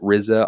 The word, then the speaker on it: RZA: to say his name is it rizza rza's the actor yep um so were they